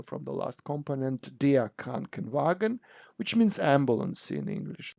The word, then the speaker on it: Krankenwagen: It's very difficult to pronounce K and W and W together, so we put additional EN, so Krankenwagen.